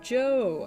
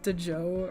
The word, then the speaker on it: Djo: Yeah, you literally just pronounce it Joe. I hate it. I thought it was DeJoe or DJO for like such a long time.